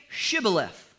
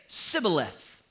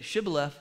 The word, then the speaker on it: Shibboleth: would say to him then say Shibboleth and he would say civilus because he couldn't pronounce the H and then they'd kill